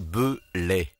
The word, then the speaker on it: Beulet: Reblochon Belay, prononcez Belay.